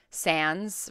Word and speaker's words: Sans: character who won was Sans from undertale I think that's how you pronounce the name I'm assuming it's like Sans like sans-serif but yeah Sans from undertale